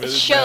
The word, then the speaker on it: Sho: No, Sho, like, S-H-O, or S-Y-O. It's a weird way how to pronounce it, but it's Japanese, so.